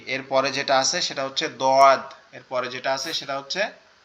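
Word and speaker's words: ضاد: দোয়াদের আওয়াজটা হচ্ছে সবচেয়ে কঠিন, মানে সব থেকে কঠিন। এটা কিভাবে? এটা জিহ্বার গোড়া, আমাদের যে জিহ্বা আছে, জিহ্বার গোড়ার অংশটা এই ডান সাইডের মাড়ির সাথে লাগবে, ডান সাইডের উপরের মাড়ির সাথে।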